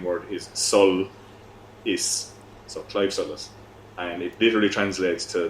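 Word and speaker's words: Claimh Solais: a cve suus so the first word is like the name Clive um and the second word is Sol is so Clive Solus and it literally translates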